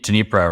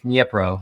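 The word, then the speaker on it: Dnipro: powerhouse um like denise dunipro right like that i'm not i'm probably butchering the pronunciation yeah i think it's nipro yep bro oh boy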